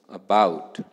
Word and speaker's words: about: So out of these two syllables the second syllable is more important and hence it receives stress. So in other words the second syllable is pronounced louder than the first syllable.